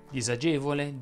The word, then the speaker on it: disagevole: Tuttavia sarebbe corretto pronunciare con la S sonora queste parole che pure hanno la particella dis. Sono disagevole, disonore, disamorare, disappunto, disimpegnare.